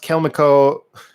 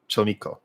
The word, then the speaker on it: chelmico: It's a combination of their names Rachel, Chul, and Mamiko. Cholmiko. So you pronounce it like that.